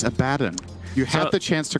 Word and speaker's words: Abaddon: not even level six you have to say abaddon not level six good but uh he will again it's abaddon you have the chance to correct it so